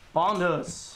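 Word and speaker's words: Bondhus: Bondus.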